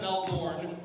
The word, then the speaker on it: Melbourne: It's actually, first of all, it's pronounced Melbourne.